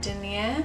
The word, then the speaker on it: denier: That's how you say it, Denier.